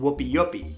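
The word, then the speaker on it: wupiupi: It's called Whoopi Yupi. And yes, that's the right pronunciation.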